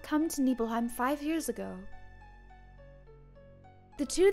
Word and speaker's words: Nibelheim: how it all started sorry nibbleheim not nibbleheim I don't know why I said it wrong this is the Nibelheim Nibelheim this is the